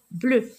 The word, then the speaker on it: bleu: Non, je ne la prononce pas U. E. Regardez, E, bleu, s'en va sous l'arbre des écureuils.